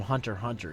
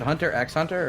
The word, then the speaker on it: Hunter x Hunter: Is it Hunter x Hunter or just Hunter? Yeah, Hunter? it's you don't pronounce the X, but the X is there.